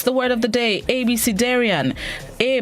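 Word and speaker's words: abecedarian: century word of the day this morning is abc darian is spelled a b e c e d a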